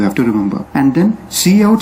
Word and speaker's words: cout: then secondly we have cout which we pronounce as c out and it stands for